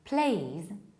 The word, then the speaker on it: please: Whereas the correct pronunciation is please in British accent and please in American accent. So E is much longer and Z or Z in American accent is there. Audible, we can hear it. Not please, please.